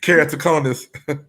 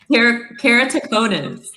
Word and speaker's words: keratoconus: disease before, and I don't know how to pronounce it. So, one more time. Keratoconus. Keratoconus.